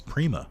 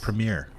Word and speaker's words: Prima: is it Prima it's Prima I thought I thought like premiere it's not Premiere no it's it's said pronounced like Premiere like Primo it's per it's pretty like or like a prima donna it's Prego it's not